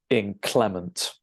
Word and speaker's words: inclement: There are 3 of them, and you stress the second syllable, okay? So inclement, all right?